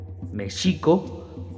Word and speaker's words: México: el nombre de México o mejor dicho Mexico con acento en la penúltima sílaba se compone de me